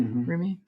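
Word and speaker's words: Rumi: enters you and that's roomie is that how you pronounce it roomie yeah so yeah how else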